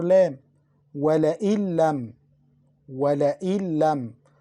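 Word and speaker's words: ولئن لم: وَلَئِن لَمْ. وَلَئِن لَمْ. We mixed Noon into Lam. We didn't pronounce Noon. We pronounced the Lam twice.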